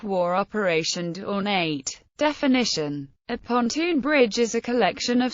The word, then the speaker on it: pontoon: US combat engineers commonly pronounced the word pontton rather than pontoon and US military manuals spelled it using a single o.